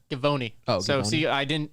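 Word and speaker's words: Givony: for his height yeah that's not giovanni by the way ty what is it g-i-v-o-n-y giovanni c i was not the only one with the hard g yeah gavoni oh so see i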